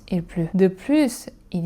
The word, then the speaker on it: plus: Et enfin pour les connecteurs logique comme en plus ou de plus, on prononce aussi le s. En plus, il pleut, de plus, il y a du vent.